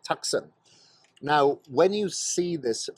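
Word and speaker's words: Taktsang: up to Tiger's Nest, which is Taksang. That's how you pronounce it, Taksang.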